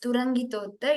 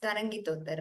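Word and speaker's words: तरङ्गितोत्तमाङ्गते: तरङ्गितोत्तमागते नमः शिवाय तरङ्गितोत्तमागते नमः शिवाय I pronounced it wrongly as Turangitotta. It is Tarangitotta, right?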